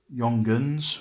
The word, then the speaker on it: Junghans: um I bought uh Yong gun which is spelled with a J as it's a a German clock I bought a clock